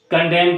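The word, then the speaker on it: condemn: होगा इसमें डी खामोश हो जाता है और साइलेंट एन में जैसे कंडेम करते हैं हम दामन है दाम होगा हैमन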